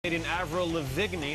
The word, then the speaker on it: Avril Lavigne: avril lavigne that's the proper way to pronounce her girlfriend with 55 of